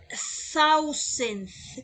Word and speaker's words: thousand: con esta palabra que su pronunciación es ausente como si estuvieran ustedes mordiendo la lengua a esa es la pronunciación ausente ausente entonces en español